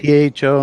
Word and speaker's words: pho: Now, Foo is also associated with PHO, not cool. FOO. Yo, Foo. What? Which makes me think pho, which is actually a noodle, isn't it? But one is not pronounced foo.